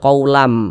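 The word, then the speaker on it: قَوْلًا مِّن: Jadi kita membacanya sebagai qulam. Jangan dibaca sebagai quam. Jangan dibaca sebagai quulan. Namun bacalah sebagai quulam.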